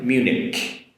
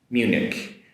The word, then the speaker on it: Munich: This is a good one here in the regard of the “ch” sound at the end in English is a Munich um whereas in in the German in German, the German language and also in Japanese it's “hen” at the end “myunhen” but in English, Munich Munich so that “ch” at the end is a “k” sound in in English.